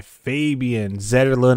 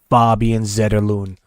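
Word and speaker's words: Fabian Zetterlund: beautiful top shelf goal by Fabian zon as you call him but he says his name is pronounced faban zedon so put some respect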